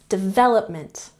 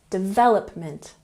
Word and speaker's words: development: understand understand next development emphasize the second syllable development development good and next we